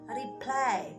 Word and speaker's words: reply: Itu tulisannya reply, bacanya reply ya, reply.